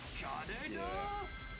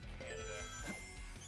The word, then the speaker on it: Kaneda: I pronounced his name Canada. God. There was even a D in there, man.